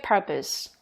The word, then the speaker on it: purpose: 근데 얘는 발음이 일단 강세가 펄에 들어가기 때문에 이렇게 펄이 크게 발음되고 나머지는 작게 발음돼요. 그리고 약간 포스보다는 발음이 나요.